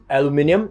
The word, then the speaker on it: aluminium: Now if you're wondering why this area is not rusted, it's because this is made of aluminium or aluminum, however you want to pronounce it, which is way less susceptible to corrosion.